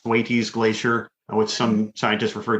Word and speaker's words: Thwaites: Certainly you've reached and passed tipping points when things like I believe it's pronounced Thwaites Glacier, which some scientists refer to as the Doomsday Glacier.